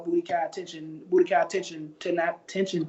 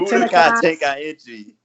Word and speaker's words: Budokai Tenkaichi: game is Dragon Ball Budokai Tenchin 3. That is the best one there's ever been. You don't even know how to say it, right? Say it for me. Budokai Tenkaichi. Tenkaichi 3. Excellent.